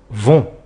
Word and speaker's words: vont: on obtient les gens vont attention le thé à la fin et muet et ne se prononcent pas voilà cette leçon est